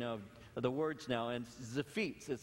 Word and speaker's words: Ziphites: the words now and zephitz is how it said all i have to do is just look at my feet and i remember how to pronounce it it's the feats and